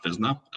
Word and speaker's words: Physna: Yeah, and by the way, everyone pronounces it Physna, but it's actually pronounced Physna.